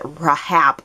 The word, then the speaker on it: RHAP: podcast of the RHAP, I think they pronounce it Rahap podcast.